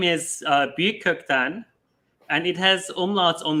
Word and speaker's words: Büyükkökten: there so my uh last name is uh buktan and it has umlauts on the uno in the united states they just uh call it biocotton which is an easier pronunciation yeah yeah it's